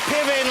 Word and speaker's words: Piven: Is that a long line of Pivens, or because I've never met a Piven before? You know, it's actually a Ukrainian name, and it's pronounced Piven, I believe, and it means rooster or singing cock.